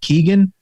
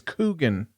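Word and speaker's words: Keoghan: I think you pronounce his last name Keegan. That's what I had thought it was, Keegan. But then I came out and found out it's Coogan.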